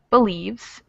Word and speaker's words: believes: So we have Victor, and where is the schwa sound in believes? First syllable. Believe. Yeah, the first syllable. So since the second syllable is the stressed syllable, the first one kind of gets passed over and into that schwa sound.